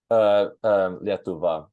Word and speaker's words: Lietuva: Lietuva. That's how you say Lithuania in Lithuanian.